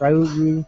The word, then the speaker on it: Ryu: Like it'd be Ryu. Yeah. Is that how you say his name? Yeah. Ryu.